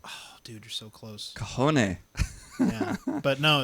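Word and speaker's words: cajón: How do you think it's spelled? Cahone. Oh, dude, you're so close. Cajone.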